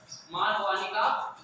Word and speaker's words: Markovnikov: मार्कोनिकॉफ rule, मार्कोनिकॉफ कहते हैं, लेकिन इसको आप ऐसे पढ़ोगे तो स्पेलिंग आपकी याद रहेगी, मार्कोनिकॉफ, ठीक है ना?